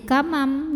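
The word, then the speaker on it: كَمَنْ: Maka cara bacanya nun sukun ini dibunyikan diganti ya bunyinya dengan bunyi mim sukun. Jadi yang tadinya kaman jadi kamam, jadi m disertai dengungan.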